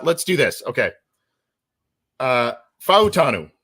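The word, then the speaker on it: Fautanu: but let's uh let's do this okay uh fanu right that's what that's Y what you said um is how to properly pronounce it Troy fanu had a recent visit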